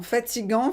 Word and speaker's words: fatigant: Donc là, vous avez gant et là, vous avez gant. Fatigant, fatigant, même prononciation.